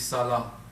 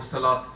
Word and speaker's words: Salah: That this is one of the 5 pillars of Islam is Salah or Salat, some people pronounce it as a T.